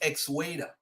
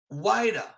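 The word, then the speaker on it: Xweda: ask yourself this question could it be that they are mispronouncing a yoruba term the yoruba term is ex-weda x-w-e-d-a but ladies and gentlemen the word is really strictly although the town could probably be described as kuwaita h-u-e-d-a this is the indigenous word in the fun it's called so different languages pronounce the word different ways so when the europeans came in they call it waida or judah so they're calling it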